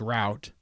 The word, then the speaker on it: route: I like the uh some people from foreign countries and different languages and dialects say root it is not root it's route you're saying it wrong because if you say